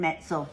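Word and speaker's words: Metzl: And it's by Jonathan Metsel. Metsel rhymes with pretzel.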